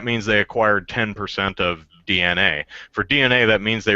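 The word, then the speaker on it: DeNA: See, I've always just pronounced it Dina. I'm like, yeah, from what I understand, it is actually DNA though, but I keep wanting to call it Dina or Dana.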